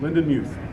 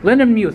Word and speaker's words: Lindenmuth: Lindenmuth. Lindenmuth. I can't pronounce names as Todd or Tom, as you